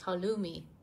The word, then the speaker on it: halloumi: cheese I don't know how to say this hollow Moon hello hello me hello me something like that it's traditional cheese of Cyprus it looks like this what halloumi he just started it's halloumi halumi cheese it's like he loves this um